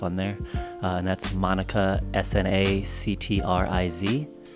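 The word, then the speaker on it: snactriz: It will be Monica, but just the first letters of my last name. Monica, S-N, and then actriz. Actriz. There it is. That's what it is. In Spanish. Sanctriz.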